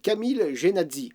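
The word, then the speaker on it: Camille Jenatzy: La Jamais Contente est une voiture électrique belge fabriquée et pilotée par le belge Camille Genazzi, si je le prononce bien, et ce en 1899.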